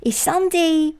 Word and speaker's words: Sunday: 선데이 할 때 사운드는 무성음이니까 바람소리로 시작해서 그냥 sond데이 아니라 sun데 sun데이데 모닝도요.